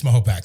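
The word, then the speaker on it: Mahopac: I've I've gotten a lot of smoke for saying Mayapac sometimes from the old-timers, so I say it correctly. I'm also part of the Rotary Club, so they they tend to uh correct me often. It's Mahopak. So, 21 22 years I've lived in Mahopak.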